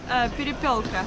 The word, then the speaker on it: перепелка: And here we have like little eggs from how do you say in Russian? Перепелка.